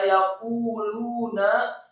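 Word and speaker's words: يَقُولُونَ: Kata yaquluna, ya-nya fathah satu harokat, kemudian qafnya marfu atau dhamma dua harokat karena setelahnya ada wawu sukun.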